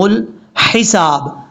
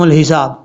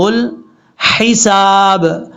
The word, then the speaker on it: الحساب: اب یہاں پر کیا لوگ غلطی کرتے ہیں؟ جلدی میں وہ پڑھ دیتے ہیں یوم یقوم الحساب. حساب نہیں پڑھنا. یہ دیکھیں لام کے بعد جو ہا ہے یہ ہا بریک ہے، اس کو بھاری ساؤنڈ کے ساتھ نہیں پڑھنا، کلیئر کر کے پڑھنا ہے.